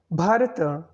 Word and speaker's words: Bharata: inhabitants of the sub-continent bharata the name of our country more explicitly pronounced as Bharata is a poly Sanskrit